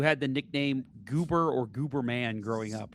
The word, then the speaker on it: Gooberman: It's spelled the way it sounds. It is not a stage name. It's G O O B E R M. Gooberman.